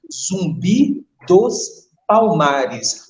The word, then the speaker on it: Zumbi dos Palmares: This date honors a great Black Brazilian leader, a great African descendant called Zumbi dos Palmares. It's important to pay attention the pronunciation Zumbi dos Palmares, Zumbi of Quilombo dos Palmares.